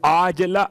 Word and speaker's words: عاجلہ: ایسی نیند کہ عاجلہ، وہ جو آپ کہتے ہیں معجل اور معجل عین کے ساتھ، یہ عاجلہ عین سے ہے. ہو سکتا ہے میرے تلفظ میں آپ کو واضح نہ ہوا ہو، اس لیے میں نے کھول دیا.